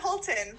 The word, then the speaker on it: Hultin: Ginger Hultin.